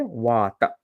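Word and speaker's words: vata: called so V Kapa what is v v literally means wind or air wat okay wat long a short a wat it's constituted by the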